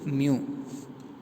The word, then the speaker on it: mu: If you consider a gas which contains mu moles of the gas, so U மாதிரி போட்டிருக்காங்களே, that is mu. M mu அப்படி pronounce பண்ணணும்.